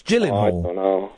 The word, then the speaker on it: Gyllenhaal: It's a soft It's a soft G. It's Gyllenhaal.